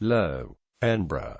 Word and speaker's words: Löwenbräu: Larn brow us low embra German pronunciation is a BRI in Munich owned by